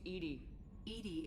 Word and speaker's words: EDI: why are you named Edie the phonetic pronunciation of EDI that is an acronym for enhanced defense intelligence where are you my